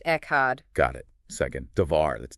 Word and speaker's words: Echad: Pronounced Echad.